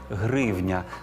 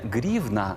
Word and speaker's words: гривня: із золота А ось на гроші треба казати гривня до речі і російською мовою теж не грівна а гривня А тепер про копійки